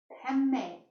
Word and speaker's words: Padme: Padme is spelled P-A-D-M-E. Padme means the lotus, and it represents your body awakening as a vehicle of your higher self.